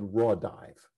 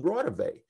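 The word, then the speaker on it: Raudive: i realized of course he was mispronouncing it it's constantine rotavey the electronic voice phenomena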